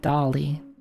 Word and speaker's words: Dale: Global warming, Armando, Welcome to Miami, Dale. Which of these is not a name of an album? All right. I think I I think I know Welcome to Miami is by Pitbull, right? It's pronounced Dolly.